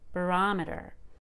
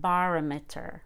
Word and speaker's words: barometer: it's a suffix barometer you really need to go up in pitch on that o and make it a short o barometer so it is not barometer or barometer that bar becomes barometer